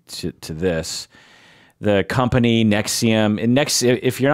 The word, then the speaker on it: NXIVM: to this the company Nexium and next if you're not familiar we're pronouncing it Nexium but it's it's spelled nxivm yeah like Roman numeral